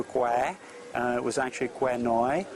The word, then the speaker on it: Kwai: Bridge Over the River Kwai, which is the way we pronounce as foreigners, which is mispronounced. It's actually River Kwai.